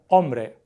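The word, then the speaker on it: hombre: ombre are pronounced abl ombre we just ignore the H K and W are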